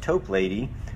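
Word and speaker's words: Toplady: by the name of augustus top lady or i've heard it pronounced tope lady who also wrote a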